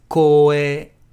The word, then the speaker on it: 光栄: And here you have to be careful because it's two long vowels. It's not kouei or koe, which means voice. It's koe, koe desu.